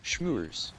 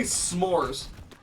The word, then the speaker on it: s'mores: I don't think you really, when you say s'mores, s'mores, you don't really pronounce the H.